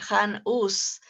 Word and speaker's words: Jan Hus: Y después afirmó esto también Jan Hus, o en español se pronunciaría Han Hus, porque la H no